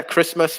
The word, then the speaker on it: Christmas: and also christmas yeah christmas with a silent t look at that lots